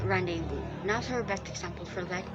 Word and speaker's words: rendezvous: will be at first under the impression that it will read as randy's voice but if you're going to look at its pronunciation it needs to pronounce as rendezvous another best example for